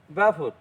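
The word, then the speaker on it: Balfour: এবার দেখো ব্যালফোর, বানানটা দেখো ব্যালফোর আছে, BAL, এল এর উচ্চারণ কিন্তু হবে না, ব্যাফোর।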